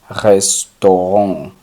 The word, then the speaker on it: restaurant: Restaurante es una palabra francesa y sería restaurant. La A y la U como suenan O, entonces sería restaurant. Restaurant.